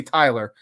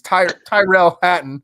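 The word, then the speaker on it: Tyrrell Hatton: I always want to say Tyler. It's Tyrell Hatton.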